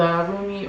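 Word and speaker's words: Rumi: but this is from the roomie or Remy depending on how you pronounce it Oracle deck Elena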